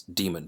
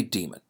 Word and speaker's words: daemon: route which the daemon, which I will from now on pronounce as demon, but it is written with an AE, as in Aesop, as in AE, right? But we'll say demon. We'll say demon. We're going to say demon instead of daemon.